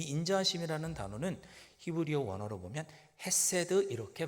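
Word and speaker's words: חסד: 여기 인자하심이라는 단어가 나오는데 이 인자하심이라는 단어는 히브리어 원어로 보면 헤세드 이렇게 발음합니다.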